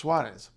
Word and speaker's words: Soares: This is a fairly well-known feature of Portuguese, but not in most of Brazil, where it just becomes z, like we would in English, Soares.